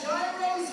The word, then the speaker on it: gyros: They got gyros here and more. Check out the concession stand. Fresh hot gyros. Check them out. Sounds delicious. Hold one for me for after the show. Pronounced euros, Don't David.